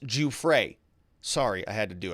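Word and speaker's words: Giuffre: one and another one he says virginia's name is pronounced ju frey sorry i had to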